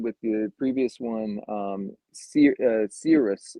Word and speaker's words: Cirrus: But like you were saying with the previous one, Cirrus, if I'm Hmm. pronouncing that right, Mark, Serious, yep.